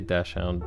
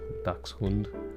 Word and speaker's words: dachshund: retriever and a doberman you can't say dashound dash hound well sorry I'm pronouncing it wrong dachshund you can't say it